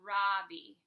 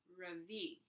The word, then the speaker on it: Ravi: My name is not Robbie. It's pronounced Ravi.